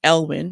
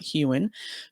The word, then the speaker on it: Elwing: to Inside Edition and I pronounced his name earlier it should be elwin not huan Jonathan elwin who helped lead an